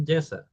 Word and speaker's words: JSON: Ya, Bukan, JSON yang di sini ya bacanya JSON ya, padahal gak ada A-nya ya.